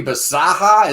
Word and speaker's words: Bisaha: And then we get to the singer, this guy, Johnny Bisaha. Is that how you pronounce his name?